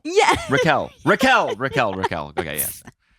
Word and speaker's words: Raquel: of what it Raquel how is it actually pronounced tell me yeah Raquel because I was saying Reiko as a joke